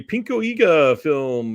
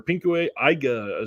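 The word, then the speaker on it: ピンク映画: gushing prayer from 1971 this is a pinka film or pinku AA sorry it's the proper way to say that um this is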